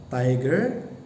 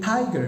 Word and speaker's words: tiger: The English equivalent for Sundanese maung is tiger, not tiger, not tiger. So why should it be tiger? Because the word tiger consists of two syllables, and then the first syllable is given stress.